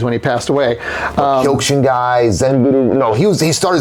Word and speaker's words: Zen: But Zen pronounced the same as we think of like Zen and meditation.